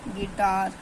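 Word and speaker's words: guitar: बाद you silent letter यदि यू के बाद कोई वल आ जाए ए ई आई ओ यू तो य हमारा जो साइलेंट होता है जैसे की गिटार ड गस गेस्ट गाइल लार्ड मिल्ट सॉरी गिल्ट और बिस्किट तो इसमें क्या हमारा जो यू है हमारा साइलेंट है सब में हमारा यू क्या है साइलेंट है यू के बाद ी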